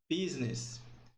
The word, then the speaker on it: business: Aqui, por exemplo, nós temos a palavra negócios, que é pronunciado business.